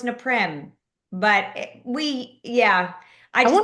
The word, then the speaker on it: Naprim: They go naprim. Napim. Yep. And I'm like, "No, it's neprim."